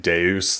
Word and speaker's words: Deus: Yeah, I think they're supposed to be pronouncing it deuce, like deusmina, but the dub is not great.